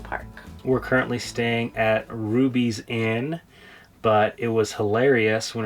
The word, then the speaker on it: Ruby's Inn: We're currently staying at Ruby's Inn, but it was hilarious when rolling up because the GPS pronounced it Rubby's Inn, so we referred to it as Rubby's for the duration of the trip.